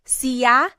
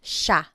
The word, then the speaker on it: siya: And again, just to point out the pronunciation, it looks like it should be pronounced siya, but it's usually pronounced siya.